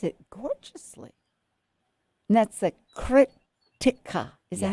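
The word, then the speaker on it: Krittika: And that's the Kritika. Is that how you say it? Yes. Krttika.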